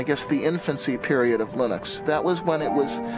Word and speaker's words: Linux: Linus and I really don't care how people pronounce my name but Linux is always Linux he developed a kernel and got it working